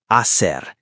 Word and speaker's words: hacer: The word is hacer, to do. What do you do with the H? Pause. Silent. Just hacer. Ignore the H completely.